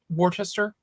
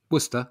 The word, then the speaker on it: Worcester: that there is a a city or town called Wartchester. Worcester. Yeah. Oh, is Worcester still? Okay. That wasn't possible. Yeah. Worcester. Yeah.